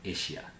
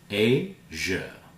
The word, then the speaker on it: Asia: It's not Asia. Asia.